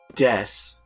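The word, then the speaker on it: です: Well, I mean, like, I know des, which is spelled D-E-S-U.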